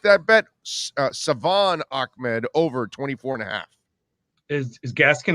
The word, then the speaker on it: Salvon: So the over and under for Salvon Ahmed, or Savon Ahmed, I'm sorry, because he corrected me several times. I didn't say it right. Savon Ahmed, the over and under is 24.5.